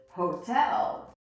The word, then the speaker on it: hotel: Let's say, for example, this word, you wouldn't say hotel, right? But you're gonna say hotel, right? So the stress is here. So we hear our T, hotel. Hotel.